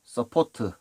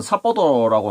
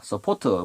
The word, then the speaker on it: 서포트: 동발이, 서포트, 파이프 서포트, 강관지주, 강관 서포트, 이름도 참 많습니다. 현장에서는 사포도라고 하는데 이게 서포트의 일본식 발음이죠.